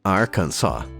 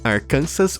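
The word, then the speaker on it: Arkansas: De acordo com o título 1, capítulo 4, sessão 104 do código do Arkans jeito correto de pronunciar o nome do estado, que é Arcans Arcansas, uma ova ou pior ainda, Arcances.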